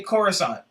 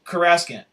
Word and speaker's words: Coruscant: And how they would say Coruscant, because it was new back then. Remember, that was the first time they ever said It was Coruscant.